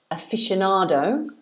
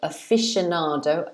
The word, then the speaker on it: aficionado: In English, we pronounce it aficionado. So we say aficionado, aficionado. So it's actually 5 syllables.